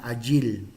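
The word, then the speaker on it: איל: Hay una palabra en hebreo que se llama agil, A-Y-I-L, se podría transcribir en español, agil.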